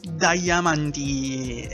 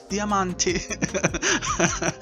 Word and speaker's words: Diamante: generation Italian am and if everybody says damanti and everything else is damanti okay I am the one who knows their exact pronunciation this time okay it's Diamante and he's a very